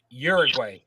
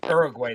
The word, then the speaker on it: Uruguay: Ghana Portugal Korea and Uruguay or Uruguay depending on how you want to pronounce it but white Uruguay see